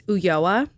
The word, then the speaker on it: Ulloa: It's Ulloa.